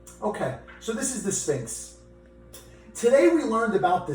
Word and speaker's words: Sphinx: I think what he means is things like something stinks around him.